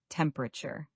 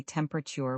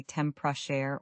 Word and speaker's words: temperature: The word comfortable we covered earlier, but let's look at a related word, temperature. Many learners say temperature with four syllables, but native speakers often say temper or temper, compressing it down.